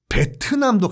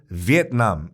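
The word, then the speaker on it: Việt Nam: 말을 드리자면 그게 금지가 됐다고 하면 에 일본식 발음인 베트남도 같이 금지 해야 되는거 아니에요 그 같은 원리라고 하면 위의 남이 백도 나 못했다가 베트남이 된거 기 때문에 그래서 는 정식 꾹 거인 지금부터는 위에 남 이라 곳 일단 최선을 다해서 이렇게 발음을 할게요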